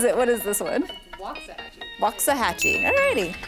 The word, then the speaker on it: Waxahachie: Waxahachie. Waxahachie. Waxahachie. Wazakaachie. What is it? What is this one? Waxahachie.